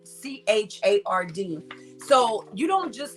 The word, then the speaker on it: Burchard: It's either Burkhard or Burchard. Burchard.